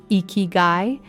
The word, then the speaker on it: ikigai: In Japan, the word ikigai, pronounced ikigai, is often translated as a reason for living.